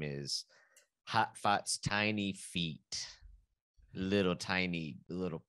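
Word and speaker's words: Hatfahts: Hotfoths. It's spelled H-A-T-F-A-H-T-S.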